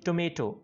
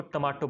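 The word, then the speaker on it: tomato: जैसे पहले हम बोलते हैं टोमेटो, या अक्सर लोग इसको टमाटो बोलते हैं, टमाटो, राइट, वो भी बिल्कुल गलत है, इसकी प्रोनाउंसिएशन है टोमेटो टोमेटो।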